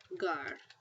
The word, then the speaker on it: llegar: And it's pronounced like this, llegar, okay? It has the hard G sound.